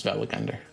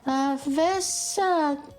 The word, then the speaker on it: Velagunder: Notice how Unica childishly mispronounces the beast's name, Vesagata? whereas Hugo gets it right.